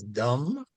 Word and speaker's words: dumb: It doesn't mean the same thing as dumb. Dumb is a different inference because the the B is silent, isn't it?